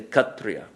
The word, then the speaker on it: Kshatriya: Kshatriya. They don't say Kshatriya, they say Kshatriya. So when the S comes after the K, then it's silent. It's pronounced like an H.